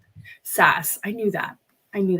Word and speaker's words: SaaS: world of Enterprise saas how do you say that Grace S software as a service yeah SAS I knew that I